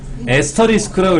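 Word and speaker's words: asterisk: 사실은 별표가 아니라 뭐다? 에스터리스크라고 읽어. 에스터리스크 곱하기 요거예요.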